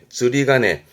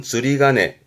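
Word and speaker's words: 釣鐘: 발음은 즈리가네. 앞에 게 조자인데요. 낚시하는 낚시 조자입니다. 조종이라고 그래서 낚싯줄에 매달아 놓은 종. 흔히 절에 가면은 매달린 종이 있잖아요. 그거를 조종. 발음은 즈리가네 합니다.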